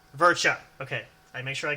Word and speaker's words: Verca: Verca. Verca. Okay. I make sure I get that right, because I don't want to mispronounce.